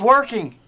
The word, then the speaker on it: working: working on that one so the two sounds I have in where I make the sound in my nose working or I can make the n Sound working working but I cannot say working working this is not correct it sounds strange this